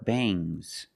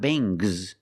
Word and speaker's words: bangs: When you have s after ng, it makes the nasal sound m, but it also makes a little g sound, but not a hard strong g. These are bangs. Bangs. There's a little g, but it's not bang gz. It's softer. Bangs.